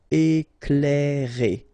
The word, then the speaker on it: Éclairer: Okay, C and L together, you will pronounce this cl, cl. Éclairer.